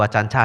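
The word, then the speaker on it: Ajahn: Ditulis pakai J sebenarnya bacanya C itu bahasa thai. Baca yang benar adalah acan. A-nya panjang ya. A yang kedua panjang acan ya.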